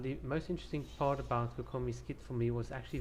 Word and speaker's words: Kokomi: for the new character by nakakami it's not kikomi it's kokomi i i've studied japanese i can read and write how i butchered her pronunciation is just beyond me but